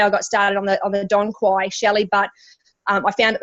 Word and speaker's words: dong quai: of other products, is the Tanque, which is pronunciation, the Dong Quai.